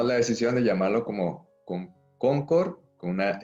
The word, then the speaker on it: Concorde: y pronunció en Toulouse la palabra Concorde con la E.